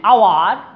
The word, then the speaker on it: hour: An hour, H silent.